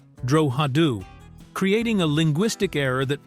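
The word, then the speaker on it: Drogheda: The American cast consistently mispronounced the name of the central sheep station, Drogida, as Drogida, instead of using the correct Irish pronunciation, Droadu, creating a linguistic error that persisted through every episode of the miniseries.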